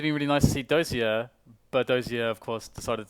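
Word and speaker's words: Dosia: No, sorry, Simple and Fix as stand-ins, as Kucha is elsewhere and Dozia, actually, as it's pronounced, has left the building.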